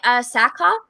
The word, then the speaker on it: Sackhoff: And then also they just announced this, but Katie Sackhoff, is that how you say it?